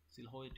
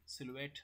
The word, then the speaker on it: silhouette: একটা হচ্ছে সিলহোয়েট মেথড আর একটা হচ্ছে কি এলবো মেথড। আচ্ছা, এটার উচ্চারণ মেইনলি সিলুয়েট মেথড।